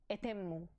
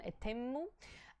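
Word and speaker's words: eṭemmu: just over here and the word is pronounced etemu with a ta that is actually a very strong terror in arabic and persian etemu and the text uh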